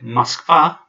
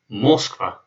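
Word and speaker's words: Москва: notice that I said musk far because the stress is on the second eight not Moskva because that this recipe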